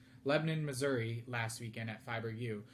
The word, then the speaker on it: Lebanon: However, um due to Leadium Men Fiber Arts vending in, uh Lebanon or Lebanon, excuse me, I was corrected on how to pronounce it. Lebanon, Missouri last weekend at FiberU.